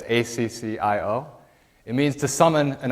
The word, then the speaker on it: Accio: of the akio spell i'm not sure as it's pronounced that in the movies but but it's accio it means to summon